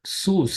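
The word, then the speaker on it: סוס: word is sus King James uses CWC but sus is how it is pronounced Within These curly braces I'm giving your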